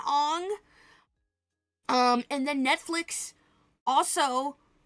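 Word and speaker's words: Aang: Ang, you know, remember the the correct proper pronunciation? Ang.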